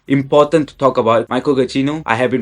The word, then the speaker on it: Giacchino: Michael Giacchino, I have been pronouncing your name wrong all this time.